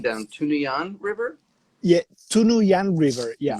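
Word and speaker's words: Tunuyán: Say, can you uh, pronounce the river? Beth just put the spelling down. Tunuyan River? yeah, Tunuyan River. Yeah, Tunuyan.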